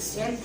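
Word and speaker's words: scent: क्योंकि आप यहाँ पर देखें कि एस के बाद जब स का साउंड प्रोड्यूस करना है तो सी साइलेंट हो जाएगा, लेकिन यही सी बाद का साउंड भी प्रोड्यूस करता है।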